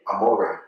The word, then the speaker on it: Amore: Pronounce it again, the label? Well, my middle name is Amore. Amore.